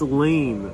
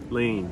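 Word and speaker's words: laine: It's Lane. I'm not sure how to pronounce it. L-A-I-N-E. Lane.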